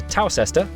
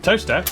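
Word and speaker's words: Towcester: to mouso mous next travel North up to toester toter then a quick J to Gotham goam followed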